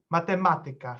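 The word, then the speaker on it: matematyka: the penultimate syllables and those are uh words borrowing from greek ending in ika or ikas are basically all scientific disciplines it's mathematica physica uh informatica lingvistica say mathematics uh uh linguistics and uh so when it's all on the uh anti-penalty not uh and not uh not only penultimate syllable unless uh you obviously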